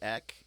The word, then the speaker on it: Eck: It's missing an H on the beginning of it.